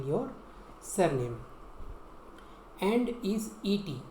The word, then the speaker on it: et: And is et. Et is a. Et is pronounced like a.